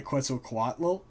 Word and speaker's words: Quetzalcoatl: and then the second son is governed by quetzalcoatl um which i've heard is the like the correct pronunciation um and that is probably the most